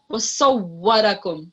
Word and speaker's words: وَصَوَّرَكُمْ: So make sure that you smile when you say seen as a way. So wasawwarakum, that's seen. However, when there's a sword, wasawwarakum. So there's a clear difference between seen and sword.